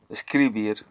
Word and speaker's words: escribir: let's listen to it Hotel hotel let's watch escribir escribir system right we see that still here the accent is on beer instead of a scree escribir basically beer so that's how it works Spanish